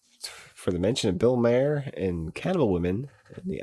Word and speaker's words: Maher: I'm saying uh for the mention of Bill Maher and cannibal women and the avocado Jungle of death the more I knew I was saying it wrong you know Bill Morris I know who Bill Maher is does he